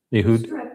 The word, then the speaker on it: Ehud: I don't know how to pronounce his name. Is it Ehud? Mhm. Ehud a dagger through his stomach.